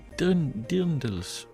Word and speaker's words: Dirndl: While the word is most often associated with Bavarian, Austrian, South Tyrolean and Trentino garments, including lederhosen and dirndls. Okay, that was not really well pronounced.